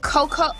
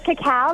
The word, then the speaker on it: cacao: And then you have the cocoa. Am I saying this right? Cocoa? Is that how you say it? Yeah. Oh, that's cacao. There's a cacao scrub, so the purple one.